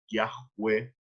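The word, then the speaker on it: Yahweh: van a decir que la pronunciación más aproximada es viaje web y esto es lo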